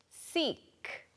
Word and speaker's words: seek: 아픈이라고 하는 sick하고 발음 구분 잘 해주시면 좋겠습니다.